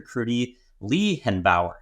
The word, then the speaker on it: Kruti Lehenbauer: Kruti Lehenbauer. Did I pronounce that okay?